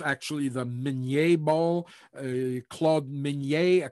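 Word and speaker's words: Minié: it's known as in the united states they pronounce it the mini ball but um it's actually the menier ball uh claude migney a captain in the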